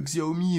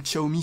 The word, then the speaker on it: Xiaomi: des téléphone de chez Xiaomi ou Xiaomi si vous préférez le prononcer comme ça dans tous les sens